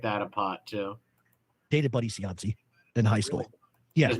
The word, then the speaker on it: Cianci: Cianci? Jeff can't say it neither, like a Providence person. We say Cianci, Buddy Cianci.